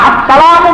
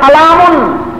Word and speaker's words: আসসালামু: ফতোয়ায়ে শামীতে লেখেন সালাম শব্দটা দুইভাবে উচ্চারণ করা জায়েজ, একভাবে একটা হলো সুন্নত আর একটা হলো জায়েজ। সুন্নত কোনটা? আসসালামু বলবেন, আসসালামু, আর জায়েজ হইল সালামুন, জায়েজ হইল হয়তো বলবেন